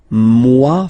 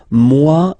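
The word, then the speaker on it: moi: So remember this o e combination gives you the sound waw wa mua.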